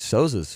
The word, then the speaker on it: Souza: I believe Souza. That is how you pronounce his name.